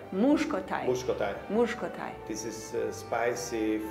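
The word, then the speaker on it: muskotály: Muskotai. Muskotai.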